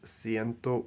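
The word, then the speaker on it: ciento: So cien for 100 becomes sento uno for 101. Sento uno. So after 100 uh cien becomes sento.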